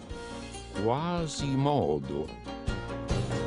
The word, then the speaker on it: Quasimodo: Ma finché rimasi in Sicilia, l'accento del mio nome cadde sulla penultima O. Quasimodo.